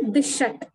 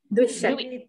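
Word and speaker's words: द्विःषट्: There is a double sh, half sh, and a full sh. So dvishat, that pronunciation should come, and then only trimshat is there.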